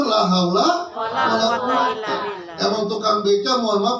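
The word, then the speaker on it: لا حول ولا قوة: Kira-kira bacanya benar atau salah? Yang benar la haula wala quwata.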